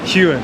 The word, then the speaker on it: Heughan: series Outlander I want to make sure I pronounce your correct name last it's huan huan perfect see you got it the first